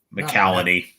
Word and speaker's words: McCallany: This is basically a family drama about the dangers of toxic masculinity, where their father, played by Holt, how do you pronounce this list? McCallany.